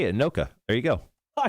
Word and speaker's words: Anoka: Anoka.